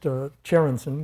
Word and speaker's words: Tjerandsen: Well, my name is Tjerandsen. It starts with a TJ, and it's pronounced Tjerandsen with a TJ, so it's pronounced just like the chair you're sitting on.